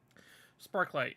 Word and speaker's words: Sparklight: Sparklight, yeah, like spark and then light.